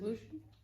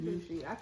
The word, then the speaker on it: Lucci: It is Lucci. I'm saying Lucy. He was Lucci.